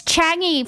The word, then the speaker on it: Changi: Changi Hospital is infamous for its dark history. It's Changi, for the love of God.